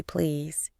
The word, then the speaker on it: please: She made sure to pronounce please with a Z sound at the end, not the S sound she was used to.